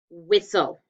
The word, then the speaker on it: whistle: scoop it with so closed consonant l e but a silent t and a silent e with soul and notice